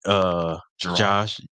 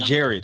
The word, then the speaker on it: Gerard: That's how they pronounce his name. Gerard. Gerard. Yeah. He's not American. It's not Jared.